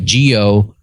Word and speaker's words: Ghoel: And he writes it phonetically. Gio-L.